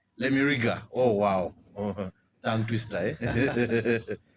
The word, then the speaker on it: Lemiraga: Most people always get that name wrong. It's Yes. Lemiriga. Lemiriga.